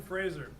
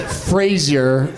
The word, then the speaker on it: Fraser: Brendan Fraser. Now, I don't know if it's actually pronounced Frazier, Tough one.